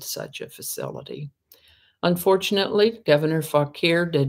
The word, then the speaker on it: Fauquier: Francis Fauquier, I had a little trouble knowing how to pronounce that name.